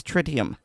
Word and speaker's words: tritium: the US pronunciation is tritium um I believe it's maybe French I don't remember now but it is some some languages do make it sound like tree you know tritium I